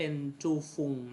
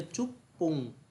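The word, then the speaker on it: 十分: นะ ครับ กะ ฟุง แต่ ที นี้ เวลา มัน ออก เสียง เรื่อง ของ การ นับ นาที เนี่ย เวลา เป็น 10 เนี่ย มัน ไม่ ใช่ เป็น จูฟุง นะ มัน คือ จุ๊บ ปุง จุ๊บปุง คือ เสียง มัน จะ เปลี่ยน นะ ครับ เสียง มัน จะ เปลี่ยน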